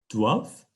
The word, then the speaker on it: doivent: D-O-I-V is basically the sound that you're making.